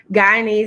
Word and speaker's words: Guyanese: Yes, Guyanese in English and Native American.